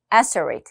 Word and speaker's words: asteroid: 발음이 좀 특이합니다. asteroid.